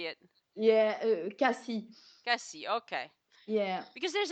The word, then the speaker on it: Cassis: life I've said it CIS yeah but you know there there is no rule about the S sometimes you pronounce it and sometimes you don't it's it's just a